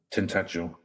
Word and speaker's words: Tintagel: How do they pronounce that? Tintagel.